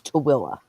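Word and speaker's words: Tooele: I lived there uh spelled t o o e l e and it's TOA yeah see well that's probably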